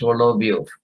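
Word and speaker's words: Соловьёв: Pronounced Solovyov.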